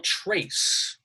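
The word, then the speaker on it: Tracz: last one for now Joe Trace that's how he pronounces the name it doesn't look like that but Joe Trace wrote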